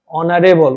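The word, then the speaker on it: honorable: হি is dash অনারেবল, উ থেকে উচ্চারণ হচ্ছে, অনারেবল ম্যান, তিনি একজন সম্মানিত ব্যক্তি, সম্মানীয় ব্যক্তি।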